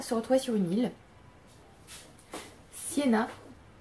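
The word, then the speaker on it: Sjena: En gros, on va se retrouver sur une île, Siena, je suppose que ça se dit comme ça s'écrit S-J-E-N-A, donc Siena.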